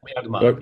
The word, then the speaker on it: Erdmann: Is that how the last name is pronounced? Erdmann. Erdmann. Erdmann, yes.